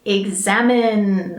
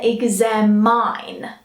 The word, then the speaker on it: examine: little bit more attention often I will here exam mine alright like something is mine but that's not that's not correct be careful we say exam in all right so the ears is almost silent we same in and not mine you know like it's